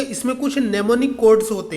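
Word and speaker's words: mnemonic: इसमें कुछ नेमोनिक codes होते हैं, कुछ नेमोनिक कोड होते हैं जिसमें जो कि प्रोग्रामिंग के लिए यूज किए जाते हैं। इसमें एम साइलेंट होता है।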